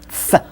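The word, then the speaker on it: ц: You get a C, C. Sort of like putting T and S together, but very close together.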